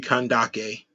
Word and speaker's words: Kandake: the canvases of which would be kandake um because it'll be a hard C have inspired more curiosity